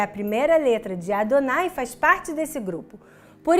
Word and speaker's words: Adonai: No começo de Êxodo Chemot, Deus revela seu nome, o tetragrama, que pela tradição judaica é pronunciado como Adonai.